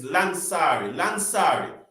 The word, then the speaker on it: Lansari: I think the U is silent, so it's Lansari.